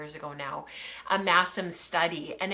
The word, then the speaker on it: Masham: sheep, and she's like, no, it's Massam, M-A-S-S-A-M. That's how you say it, even though it's spelled with the S-H.